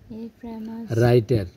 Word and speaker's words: writer: হ্যাঁ, ওয়াজ a famous রাইটার, MOUS মাস, কি হয়েছে? ফেমাস। WRI রাই, TER টার, কি হয়েছে? ডাব্লিউর উচ্চারণটা এখানে হবে না, ঠিক আছে? কিন্তু ডাব্লিউ না থাকলেও এটা ভুল হবে। রাইটার, famous রাইটার।